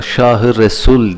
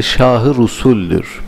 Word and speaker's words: Şah-ı Rusul: Bazen yanlışlıkla Şah-ı Resul diye telaffuz ederler. Doğru değildir. Şah-ı Rusul'dür.